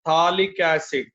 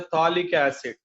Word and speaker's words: phthalic acid: Whenever 2 COH 1, 2, the IUPAC accepted name is called as a phthalic acid. pH is silent. Then the name is a phthalic acid.